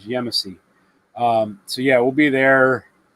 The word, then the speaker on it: Yemassee: There we go, Yemassee. That's how you pronounce it, guys. Yemassee.